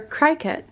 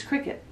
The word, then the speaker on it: Cricut: me a qriket maker is it cricut or cry cut it's cricket otherwise i've been pronouncing it wrong but no um i guess well die cut it's a die-cut machine so i guess i could see why people would say cry cut but i am 99